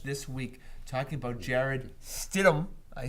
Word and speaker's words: Stidham: And I've seen so much this week talking about Jared Stidham.